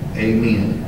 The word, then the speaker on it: amen: Amen or amen, depending on how you want to pronounce those four letters.